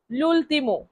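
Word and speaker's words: l'ultimo: শেষ শেষ তাহলে শেষের ইতালিয়ান অর্থ কি হবে লুলতিম লুলতিম লুলতিম এইযে এখানেও লেখা আছে লুলতিম বাংলায়ও লেখা আছে লুলতম তিম আবার ইংলিশে আছে এল ইউ এ লুল টি আই এম লুলতিম লুলতিম লুলতিম লুলতিম মানে শেষ পরের শব্দ কাছে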